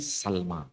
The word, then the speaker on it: Salma: sampai sekarang Bani sulaim tapi pelafalannya bukan sulaim tapi Salma dan ini bukan bahasa Yunani